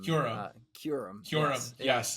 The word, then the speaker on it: Kyurem: I did look it up in a book. It's pronounced like a Kyoo Rem. Kyurem.